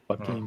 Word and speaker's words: Joaquin: So that's Joaquin Phoenix. Is that what's his name is? Joaquin? That's how you say his name, yeah. Joaquin.